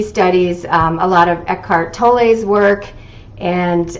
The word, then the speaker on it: Tolle: a lot of Eckhart Tolle's work. And I believe it's pronounced Tolle. I know a lot of people say Tolle, but Eckhart is German, and in German you would pronounce Tolle.